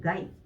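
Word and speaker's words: 概: 그래서 음독으로 읽게 되면은 가이 라고 읽어주시면 돼요.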